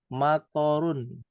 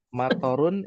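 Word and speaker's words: مطار: ya Nah bandara mator jangan salah baca juga jangan dibacanya mator endek th dan ro matorun artinya bukan bandara jadinya motor artinya apa motor bukan motor ya Enggak boleh cocok lagi nih kalau belajar bahasa Arab I matarun itu artinya adalah nazalal Mat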